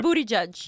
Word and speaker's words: Buttigieg: Buttigieg, I say his name wrong. Everybody Buttigieg. says his name wrong. It's Right. Booty Judge.